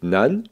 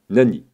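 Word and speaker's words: 何: ce fameux kanji que l'on peut écrire ou prononcer nan ou Nani la différence entre nan et Nani c'est la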